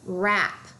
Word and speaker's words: wrap: You should also notice the WR. The W will be silent. This word is wrap, like when you are wrapping a present. Wrap.